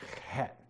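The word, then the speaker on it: ח: You say it like, say the CH as in Bach, so you say het.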